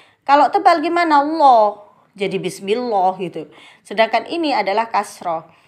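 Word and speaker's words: بسم الله: Langsung ditekan menuju lam bacanya. Kenapa kok ditekan? Karena di sini ada tasydid. Jadi masukkan ke sini. Bismillah.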